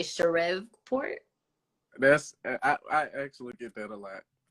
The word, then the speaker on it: Shreveport: So I don't Shreveport. I live in Shreveport. I was not gonna pronounce it like that. I was gonna say Shreveport.